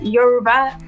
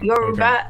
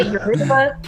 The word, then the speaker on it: Yoruba: Yeah, Yoruba, and so you have to almost say it like a song, like Yoruba, like you're rapping or something. But because some people say Yoruba, and Yoruba is just it's not wrong.